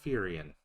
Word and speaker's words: Firion: and more involved than the first game he pronounced his name firion you're alive you seem all right you